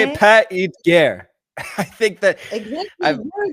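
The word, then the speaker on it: Paix et Guerre: I've now learned how to pronounce it correctly in French. How do you say it? Pas et guerre.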